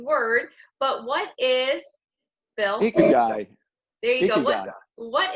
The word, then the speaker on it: Ikigai: Number 5, I forgot to ask them how to pronounce this Japanese word, but what is, Bill? Ikigai.